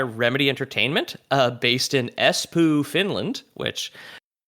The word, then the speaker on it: Espoo: Yeah, it's right exactly how you would think.